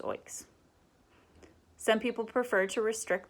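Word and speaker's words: OEICs: unit trusts and oigs open-ended investment companies pronounce oaks some people prefer to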